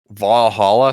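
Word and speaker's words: VA-11 HALL-A: is not very fun valhalla so that's spelled va-11 space hall dash a it's a visual novel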